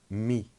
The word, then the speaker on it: mis: Participe passé, mis. The S is silent.